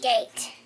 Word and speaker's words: gate: Gate. With an E on the end. A silent E.